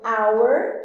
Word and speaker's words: hour: vogal, porque às vezes eu tenho hour, que é a palavra hora, que começa com H e o H é mudo, então an hour, ou an honest person, ele é uma pessoa honesta, que honest também começa com H, que é uma consoante sem som.